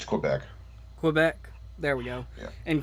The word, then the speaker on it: Québec: and settled in québec Quebec how do you pronounce it it's Quebec Quebec there we go in Canada and later